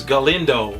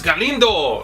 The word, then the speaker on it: Galindo: They were saying, my name is Galindo. And I'm like, it's Galindo! Like, you know, say it with, like, if you have a mustache.